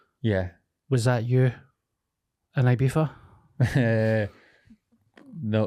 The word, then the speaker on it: Ibiza: I just said it you say it again Ibiza Ibiza FIFA okay that's how I said it